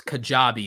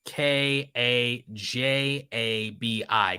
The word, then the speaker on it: Kajabi: and I am a control freak and it's kajabi it's spelled k a j a b i kajabi and uh if you did want to